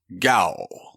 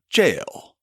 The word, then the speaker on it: gaol: it should be pronounced gal in fact in an old episode that's exactly how I pronounced it before I figured out that that's just the old spelling of our word jail that jail that caught